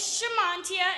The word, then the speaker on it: Shamantia: form bear with me sha as in shut your mouth as in jamaican mon and tia as in tia and tamara thank you so i